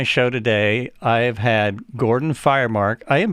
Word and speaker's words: Gordon Firemark: and on my show today i have had gordon firemark i am pronouncing that right yes yes it's just like